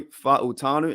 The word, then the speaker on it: Fa'utanu: We've officially signed Troy Fa'utanu. And yes, I do know how to pronounce that.